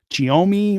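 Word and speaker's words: Xiaomi: forgot the third it's it's a really tough name for me to pronounce it's giomi with starts with an X they're doing really well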